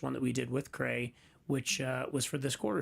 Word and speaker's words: CRA: We have a really wonderful relationship with, help me pronounce it right, Cray. I used to call him CRA. That was corrected.